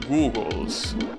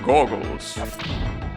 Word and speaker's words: goggles: as an eye protector, I used to call them googles, but they are pronounced goggles.